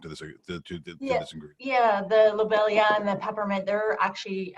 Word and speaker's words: lobelia: uh is it lobelia is that how you pronounce that lobelia yeah yes that that seems to be significant